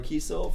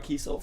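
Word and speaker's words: Kesel: We've got Barbara Kiesel from Dark Empire. Did I say it right? Yeah. Okay. Barbara Kiesel from Dark Empire.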